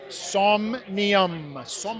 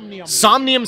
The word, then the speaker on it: Somnium: if you're unfamiliar with soul how do you pronounce this somnium somnium space is is the name of the app